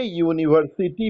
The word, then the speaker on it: university: ये no doubt vowel letter से शुरू हुआ है, लेकिन इसका उच्चारण कॉन्सोनेंट की तरह हुआ है।